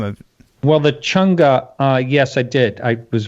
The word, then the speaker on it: Chang'e: That's Chang'e.